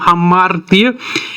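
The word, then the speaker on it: ἁμαρτία: gregas para pecado ramar-te vamos usar esse i o português chia né tia no grego será a pronúncia mas adequada seria o ti então amar ter essa palavra mais abrangente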